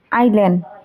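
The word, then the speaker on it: island: বুকে, fork, আইল্যান্ড। ইয়াত বুকে টি সাইলেন্ট হৈ আছে আৰু ফৰ্কত এল সাইলেন্ট হৈ আছে আৰু আইল্যান্ডত এছ সাইলেন্ট হৈ আছে।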